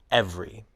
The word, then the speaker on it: every: we drop a syllable the word every looks like it has three syllables but we pronounce it as two syllables every vegetable looks like it